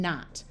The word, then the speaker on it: knot: When you have K and N together, the K is silent, like in no, knob, knack, knife, and knot.